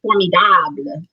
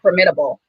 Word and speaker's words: formidable: with the i started coining formidable not formidable um or as some call it formidable so some stress before and some stress the the last syllable but it came from